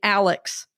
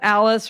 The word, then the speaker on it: Alice: my name wrong and she always calls me Alex instead of Alice or Alice and that's uh hilarious.